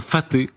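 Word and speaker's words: Fateh: Ils sont présentés par le régime c'est ce sous-marin faté. Faté, c'est la bonne prononciation.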